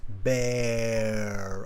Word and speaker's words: bear: So beer, I pull on my mouth like a smile, beer. And then with the animal, it's bear. I open my mouth into a more of a round shape.